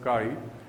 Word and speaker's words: chi: a constant of proportionality which is pronounced as chi. This is a Greek alphabet, it is pronounced as chi.